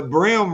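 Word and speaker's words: bream: hat on the side so everybody thinks it's like the brim of a cowboy hat which is spelled b-r-i-m but it's b-r-e-a-m is it's confusing I mean but our town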